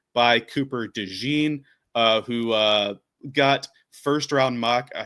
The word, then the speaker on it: DeJean: Anybody who is down on Cooper DeJean, he should pronounce it DeJean. I feel like DeJean makes it sound like a mustard, but like DeJean gives it like class. But DeJean is the mustard, like Dijon mustard.